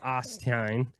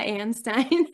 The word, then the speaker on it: Anstine: It's Mia Anstein. Anein, I butchered that. Stein, you're putting the you're putting the U in there.